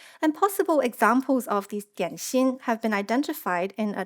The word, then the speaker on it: 點心: Now, a common Chinese name for these small food items found in the Astana cemetery is dianxin, widely known by its Cantonese pronunciation dim sum, meaning small bite-sized portion of foods that can be sweet or savory.